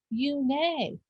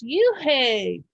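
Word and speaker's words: Unhei: "It's spelled U-N-H-E-I. It's pronounced Une." "Oh, it's you-hey," the boy said, like you-hey.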